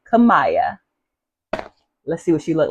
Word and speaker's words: Kiyah: And I said the name wrong. It's actually called Kiyah.